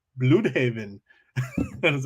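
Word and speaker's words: Blüdhaven: sent me a voice message saying it's actually pronounced Bloodhaven.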